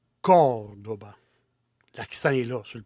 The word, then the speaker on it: Córdoba: En français, on prononce Cordoue. Moi, j'aime pas ça dire Cordoue. C'est Cordoba. Et on met l'accent sur le premier O. Cordoba.